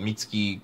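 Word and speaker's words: Mitsuki: the part where Bakker goes mom is introduced meats ki kotsky or Akatsuki beats ki as the Japanese pronunciation would be we get we meet her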